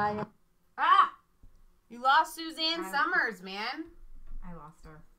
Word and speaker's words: Suzanne: TMZ caught up with Susan Summers. It's Suzanne. Whatever. It's pronounced Suzanne.